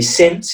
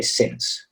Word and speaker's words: since: is this example uh this would be since it's not going to be science okay a lot of times when we have words that end in an e we make a long sound or use a diphthong but in this case we say since okay all right good